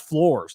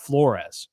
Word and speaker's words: Flores: It's pronounced Flores, not Flores.